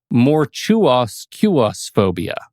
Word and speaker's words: Mortuusequusphobia: And I need to go to my notes because I had to write a phonetic pronunciation. Oh, sure. Mortuoscuosphobia.